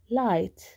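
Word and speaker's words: light: فهاي بلفظها اي، هاي لا تلفظ، وهاي بلفظ تي، زي كلمة طلع لايت لايت، قد تأتي اخر اشي مثل هاي طلع،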